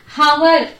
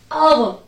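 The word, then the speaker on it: hour: H silent here. So how we have to pronounce these words? Our, our.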